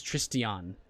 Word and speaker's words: Tristan: By the way, it says Tristan, but when I first met the character, he said his name was Tristion. Like 4 syllables. So that's why I keep saying Tristion.